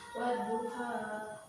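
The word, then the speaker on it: وَالضُّحَىٰ: Wadduha. Terus? Bagus. Jadi membacanya wadduha ini duhanya tidak panjang.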